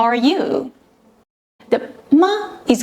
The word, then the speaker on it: 吗: The ma is given a neutral tone, making it sound light and short. Tip: the ma at the end transforms